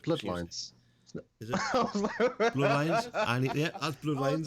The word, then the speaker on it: Bloodlines: Vampire the Masquerade Bloodliness 2, release date 2021, so PS5. It's not Bloodlines. Is it? Bloodlines?